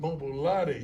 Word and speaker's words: Mobolade: Mobolade. Mobolade, you go, girl.